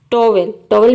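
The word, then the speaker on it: towel: तो आप देख रहे हैं कि इन सभी वर्ड में OW के बाद ई आ रहा है, ई आ रहा है। वोवेल कितने होते हैं, वोवेल 5 होते हैं, AEIOU। तो इन 5 वोवेल में से कोई भी वोवेल अगर OW के बाद आ जाता है तो OW को आपको औ प्रोनाउंस करना है।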